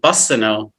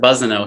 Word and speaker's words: Bussineau: And the reason I put, that was my nickname growing up, because people, instead of saying Bussineau, people say Bussineau for some reason. It's an S, but people pronounce it Bussineau.